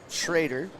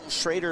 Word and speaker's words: Schrader: Oh, Schrader a little too deep there. Yeah, Michael Schroeder's the reason why I may say Steven Schrader's last name wrong. They're spelled the same, but pronounced different.